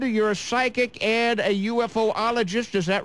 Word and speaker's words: ufologist: Now, you deal with ghosts, and you're a psychic and a UFOologist. Is that right? Am I pronouncing that term right? Yes, that's correct. You said it correctly. Ufologist. Okay. Ufologist. Yes. Ufologist.